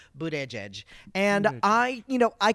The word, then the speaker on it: Buttigieg: out gay presidential candidate Pete Buddha judge but I call them bootie judge booed edge edge like he has it on a thing phonetically sounded out in his office Buddha edge and I you know